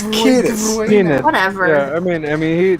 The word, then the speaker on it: Kiedis: It's Kiedis.